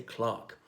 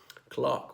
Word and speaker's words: clerk: an e for us is pronounced with an A we'd say Clark Clark was is a version